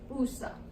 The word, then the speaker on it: usa: Usted usa. Okay? USA. It's like USA.